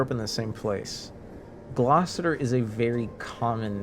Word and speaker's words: Glossier: That's pronounced glossier. Yeah, it looks like it says glossester, but it's glossier.